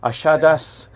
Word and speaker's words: Achadas: thank you and here's the final view of ashadas I finally pronounced it right so forgive me for any